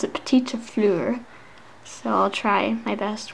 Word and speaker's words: petite fleur: My mom says to pronounce it petite fleur, so I'll try my best when it comes to that.